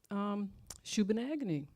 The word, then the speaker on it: Shubenacadie: tonight, but I wonder, how do you pronounce the school, the residential school you attended? And she said, well, Shubenacadie. And I said, I'll remember that. And she started laughing. She says, how? And I said, agony.